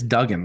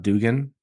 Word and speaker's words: Duggan: It's Duggan, right? It's not Dugan, like the proper pronunciation.